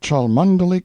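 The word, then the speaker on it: Cholmondeley: Lanover Marjgery Banks, Sellers, Vic Count Berkeley of Chalundy Castle, Warwickshshire. Pronounced Cubri Flanover Marshbanks sellers Viccount Barkley of Chumley Castle, Warkshire.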